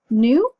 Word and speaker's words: nu: We represent frequency by the Greek letter nu, that is spelled N-U but pronounced like new, like new shoes.